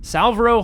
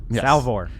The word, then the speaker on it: Salvor: what's his name again salver Harden Salo hard Harden Salo sal salvor sal ah salvor you've been getting his name wrong this whole time forever just call him